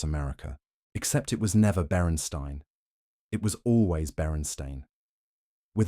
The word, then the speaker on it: Berenstain: The series was created by Stan and Jan Berenstain in 1962 and became a cornerstone of childhood literature.